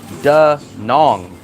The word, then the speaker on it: Da Nang: But some people say duh nang. Is it nang or nong? She's saying nang. So this is the first time you're popular me. Uh I hear locals say duh nong. Yeah. Is it nong or ning? See, she's saying nang, but everyone else says nong.